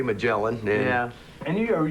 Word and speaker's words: Magellan: Magellan. It depends on where you're from. Because here is the In Right. Germany, in Right. Germany, they say Megalon. In Florida, we say Magellan.